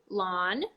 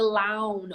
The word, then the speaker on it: lawn: are great examples too aw lawn in a w Pawn you're not gonna say the lown or the pound or I'm gonna pound my watch lawn Pon Eon a lot of